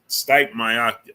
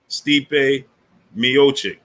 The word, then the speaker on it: Stipe Miocic: True 319 said you were saying his name wrong. His name is Stipe? Stipe Miocic.